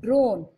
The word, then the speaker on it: drone: Dr own, drone. E is silent and O is making the I O sound.